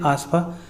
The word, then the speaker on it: AFSPA: दोस्तों, इसको हम लोग हिंदी में बोलते हैं सशक्त बल विशेष शक्ति अधिनियम, और इसको शॉर्ट फॉर्म में हम लोग प्रोनाउंस करते हैं आस्फा।